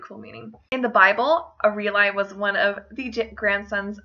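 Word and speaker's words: Ariel: it my next Eli alternative I have is a real I this name can also be pronounced Errol I or a relly however I think someone that likes sitting Eli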